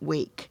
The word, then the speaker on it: wake: word whack we want wake we want to change this from a to a a so we're going to add that silent e at the end w a there we